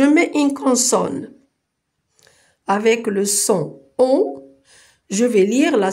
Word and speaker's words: son: Si je mets une consonne avec le son on, je vais lire la syllabe fond.